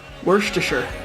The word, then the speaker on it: Worcestershire: Always remember, it's pronounced Worcestershire.